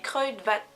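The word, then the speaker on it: Kruidvat: qu'il vient de chez crudvat crudvat crudvat ça se prononce comme ça CRE VAT je pense enfin j'espère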